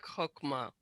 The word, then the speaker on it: Chokmah: Keter, and it's also chokmah. The ch is pronounced like chokmah.